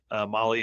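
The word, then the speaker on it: Mahle: that's listening to this Molly is spelled m ahle e and you can find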